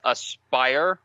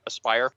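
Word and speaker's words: Aspyr: Aspire, right? That's how you pronounce that, right? Not Yes. Asper, but Aspire.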